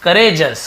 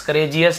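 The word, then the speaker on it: courageous: वेलिएंट, bold और करेजस, करेजस, करेजियस नहीं, करेजस यानी कि बहादुर होना, वीर होना।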